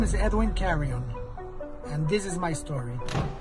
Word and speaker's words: Carrion: little hesitant on the last name how's the pronunciation on that carry on carry on carry on okay okay so it